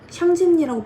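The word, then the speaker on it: 想見你: 원작의 재밌긴 상년니 샹진니라고 발음이 되며 이거를 지격을 하면 너를 보고 싶어라는 의미인데요.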